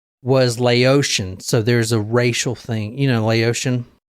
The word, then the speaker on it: Laotian: That is, it's like instead of Vietnamese or they're Thai, Laotian. it's Laotian. Oh. Yes. Yeah, like Haitian or whatever. It's just like how you say it. I was thinking Laoca.